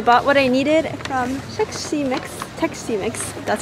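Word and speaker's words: Xexymix: So I bought what I needed from Tech C Mix, that's how you pronounce it.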